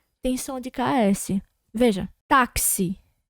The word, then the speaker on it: táxi: A gente fala o K e o S ao mesmo tempo.